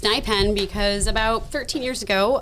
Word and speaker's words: NYPENN: now I've been saying of New York uh NY pen but I guess it's pronounced nen right correct correct that's the way you want